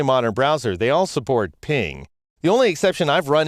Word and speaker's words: PNG: just creating images for the web in general ping is just fine and it's an open source